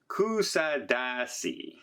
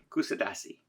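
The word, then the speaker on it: Kuşadası: So as I sit here in front of my balcony window overlooking the beautiful port, I'm going to try and pronounce this right. It's Kusadasi. Kusadasi.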